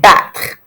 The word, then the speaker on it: battre: That RE ending, I pronounce it as sometimes people pronounce it as r. Either way is appropriate. It just depends on like where you live in France or what French-speaking country you live on as to how much you pronounce the RE or not.